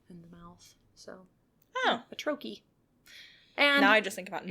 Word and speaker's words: trochee: Like in French, there's douche, C-H-E, So I thought it was Troche, Troche. Nope. Take a guess how it's pronounced. Just go for it. Troche. What do you think? Trough. Okay. You know, that's a good guess. It's trochee. Trochee.